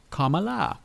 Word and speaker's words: Kamala: Comma, like the punctuation, and la, Kamala.